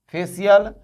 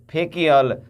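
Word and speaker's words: facial: तो क्या सोकियल पढ़ेंगे? फेकियल, रेकियल? जी नहीं, सोशल, फेशियल, रेशियल, ऐसे होता है।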